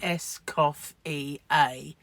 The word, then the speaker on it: Escoffier: to tell her that escoffier is is pronounced SC cof EA but um yeah some